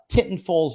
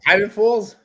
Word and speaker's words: Tinton Falls: High School is in Tinton Falls, New Jersey. And yeah, exactly. Titan Falls? Titan Falls? Oh. Tinton Falls. I always pronounce it Tinton Falls.